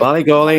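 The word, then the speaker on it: Ballygawley: Ballygolly in County Tyrone, yep.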